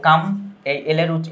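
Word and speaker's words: calm: United থাকা ঠিক আছে এযে পিচ শব্দের অর্থ শান্তিতে থাকা সবাই একসাথে থাকলেই তো শান্তি আসে তাই না এইযে কামলের উচ্চারণটা সাইলেন্ট থাকে এম এর উচ্চারণটা হবে কাম কাম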